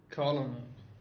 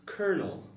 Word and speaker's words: colonel: going to present you w to try and pronounce this new word Colin Colin all Cola Cola now a little enough